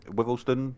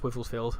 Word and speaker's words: Wivelsfield: I always get the pronunciation this wrong. Is it Wivelston? Something like that. Wivelsfield.